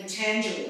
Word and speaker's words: Patanjali: And can you pronounce it again for me? Potentially. Patanjali.